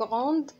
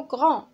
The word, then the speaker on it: grand: عندنا grand كيتسالى بالدي، ولكن من حيت عندنا دي موي ما كتنطقش، ما كنقولوش غروند، كنقولو غران اللي كتعني باللغه العربيه كبير.